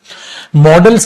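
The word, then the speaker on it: modals: मोडाल्स की बजाय बेटा इसको जो अगर आप प्रोनाउंस करेंगे तो आप इसको करेंगे मॉडल्स, मोडाल्स नहीं, ठीक है। पहले मोडाल्स बोल देते थे बट अब इग्नोर कीजिए, मॉडल्स आप बोलेंगे, ठीक है।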